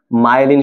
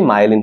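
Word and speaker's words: myelin: ঠিক আছে, এই আবরণটার নাম কি বলতো, মায়েলিন শীথ। ওকে, তোমাদের বই মনে মায়োলিন লেখা না, আসলে সঠিক উচ্চারণটা কি, মায়েলিন। মায়েলিন শীথ বা মায়েলিন আবরণ। ওকে, মায়েলিনটা সঠিক উচ্চারণ, মায়েলিন।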